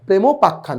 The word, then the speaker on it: প্রেমোপাখ্যান: অর্থাৎ স্যার প্রেমের উপাখ্যান। প্রেমোপাখ্যান। এই হচ্ছে উচ্চারণ। অর্থাৎ প্রেম আর উপাখ্যান দুইটা সন্ধি করে এখানে ওকার হয়ে গেছে।